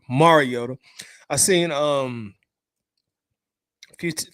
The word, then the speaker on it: Mariota: Marcus Mariota um Mariota somebody told me I'll be pronouncing it wrong so let me you try to be proper Mariota I seen um a